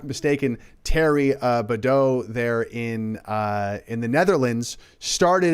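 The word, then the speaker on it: Thierry Baudet: And speaking of that, let's play the beginning of this clip of Terry Badeau.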